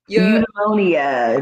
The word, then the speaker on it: Eudaimonia: Eudaimonia.